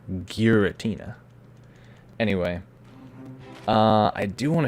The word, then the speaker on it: Giratina: a shiny geratina well how do you pronounce georgina you pronounce it giritina giratina anyway uh i do